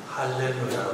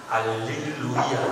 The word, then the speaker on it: 할렐루야: 그래서 거기 가면은 알릴루야라고 합니다. 알릴루야라고 하고, 우리는 할렐루야. 저쪽에서는 할렐루야. 그래서 개신교 사람들은 할렐루야라는 용어를 쓰는데, 이게 사실은 원 오리지널 발음이다.